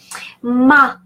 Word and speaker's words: ma: Ma, again, say a and not a. It's a, ma.